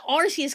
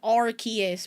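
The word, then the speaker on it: Arceus: To be fair, I'm pretty sure they I I say Arus cuz I'm pretty sure they said they pronounced it Arus in the movie, the Arus movie.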